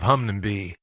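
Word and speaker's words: Hunmanby: close to flicks tin by the name of Hungnam be if I pronounced it right hopefully that is in the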